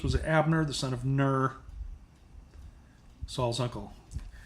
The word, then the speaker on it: Ner: So Ner. Okay. I've got to get that so I can link it. It's Hebrew 5369. It's pronounced Ner.